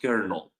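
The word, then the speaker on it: colonel: So the last word is pronounced kernel.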